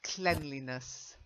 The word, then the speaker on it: cleanliness: I know it's clean as an adjective and to clean as the verb, but it's cleanliness.